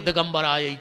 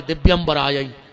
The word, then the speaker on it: दिव्यंबराय: करके चली जाती है तुमने लगे हो दिगंबर आय दिगंबर दो जने नग्न होके आओ जबकि उच्चारण है दिव्यंबराय हे माता तुम्हारे दिव्य